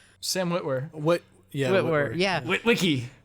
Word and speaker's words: Sam Witwer: And another great example to pull it back to Star Wars is, I always say his name wrong, Sam, I always want to say Sam Witwicky, Sam Witwer.